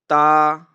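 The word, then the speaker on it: ت: Letter number three is Ta. Ta. Ta. Okay. The ta is pronouncing when tip of our tongue touch the roots of upper teeth.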